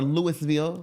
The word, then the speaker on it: Louisville: It's a You got to say it a certain way. Yeah. Like now there are Louisvilles in other city I mean other states right and those are pronounced Louisville. Y or Louisville. Lewisville. Lewisville. Yeah. Um Lewisville, Colorado like you said. Uhhuh. This is Louisville. Not to be confused.